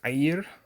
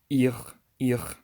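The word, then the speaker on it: עיר: Arabic in Hebrew is Ayir, but most people won't pronounce the first letter, which is Ain, and then most people will pronounce the resh as r. So they'll say ir instead of ayir.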